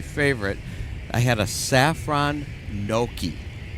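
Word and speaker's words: gnocchi: I had a saffron noki. Oh, wow. Do you know what a noki is? That's spelled G N O.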